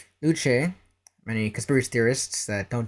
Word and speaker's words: Luce: Like her, her name is pronounced Luche. It's Italian and French.